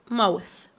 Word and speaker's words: mouth: فم mouth mouth mouth m o u t h t h ننطقهم ث ث، بنقول mouth mouth mouth m o u t h.